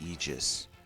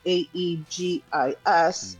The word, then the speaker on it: aegis: for shield that we pronounce aus is actually pronounced eegis. Yeah, it's funny. There's actually a mod in a game that I play that is um a e g i s and it's aegis.